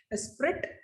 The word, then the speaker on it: Esprit: Esprit, it is pronounced as Esprit.